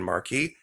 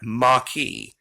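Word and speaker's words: Maquis: florida mackey that's m-a-q-u-i-s there's no r in marquee pardon me see now i'm saying it there is no r in maki people spell it marquee all the time m-a-r-q-u-i-s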